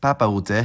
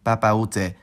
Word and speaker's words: Papaoutai: Papa Ute, which is one of the most famous French language songs of recent years, isn't actually one word. It's three, those being Papa Ute, meaning, Dad, where are you?